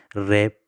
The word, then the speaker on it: wrap: इसी तरह रैप, WRAP, रैप में रैप, ये हम ये बोलते हैं, प्रोनाउंस करते हैं, इसके तलफ़ुज़ हम करते हैं लेकिन ये डब्ल्यू हम नहीं बोलते हैं, इस वजह से क्या है? ये साइलेंट लेटर है।